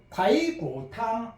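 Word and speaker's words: 排骨汤: 중국어로 정확하게 발음을 하면 바이구탕 해야 돼. 탕은 탕 일성으로 해야 돼요.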